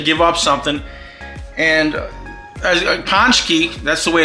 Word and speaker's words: pączki: a tradition to give up something and as ponki that's the way it's actually pronounced I had to double check it on